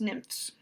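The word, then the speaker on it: NMFS: national marine fisheries service is sometimes pronounced nymphs which sounds pretty funny but and it instructed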